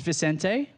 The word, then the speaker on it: Vicente: This is Vicente. Is that right? That's the right pronunciation, isn't it?